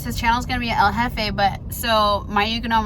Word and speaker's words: El Jefe: He was saying he said El Lafe. It sounded like he was saying I am laughing.